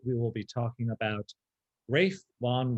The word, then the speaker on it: Ralph: But next week, we will be talking about Ralph Vaughan Williams, not Ralph, Ralph. Right. So, Right. yeah. Like Ralph Fiennes.